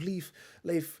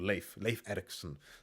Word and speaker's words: Leif Erikson: And like, no, Leaf. I think I'm calling him Leaf, but I think it's called Leif Erikson. So, yes. I'm pronouncing his name wrong too.